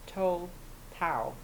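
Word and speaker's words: Tou Thao: three officers Thomas Lane J Alexander King and told Powell that's how you pronounce his name he's the officer who stood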